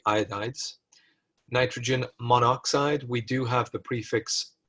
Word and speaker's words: monoxide: And in English language, we don't like too many vowels close together because it's awkward to pronounce. So it just condenses to monoxide.